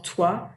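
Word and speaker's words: toit: So notice the first T in tu or toi is pronounced, but not the one at the end of the word.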